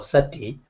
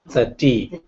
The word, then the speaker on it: sati: yeah mindfulness oh mindfulness in the international pronunciation we call sati baami pronunciation a little bit different 30 30 but nobody say like this only only burmese people other people it doesn't